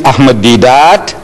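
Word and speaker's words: Ahmed Deedat: So I tell her, my name is Ahmed Didat. She says, spell it.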